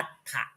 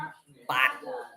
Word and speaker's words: ปาถะ: บาตร หรือ ปาด แต่ ภาษา บาลี ก็ จะ อ่าน ออก ว่า ปา ปา ปาถะ เพราะ ว่า สระ อะ ภาษา ไทย อ่าน ว่า ปาโถ ปาโถ ปาถะ นะ ครับ บาลี นี้ ให้ อ่าน ว่า ปาถะ เพราะ ว่า สระ อะ นี่ แค่ เขียน ทหาร ตัว เดียว ก็ เป็น เป็น ตัว อะ ไป นะ ครับ ถ้า เป็น